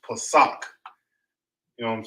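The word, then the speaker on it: פסח: You got Passover, or it would be pronounced Pesach. You know what I'm saying? It's when you pronounce it in English, it's pronounced Passover, and you translate it to Hebrew, it's pronounced Pesach.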